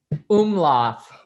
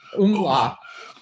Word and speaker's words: Umlauf: Umlauf. Umlauf. And I was pronouncing that this morning and I had it right, but it's really interesting.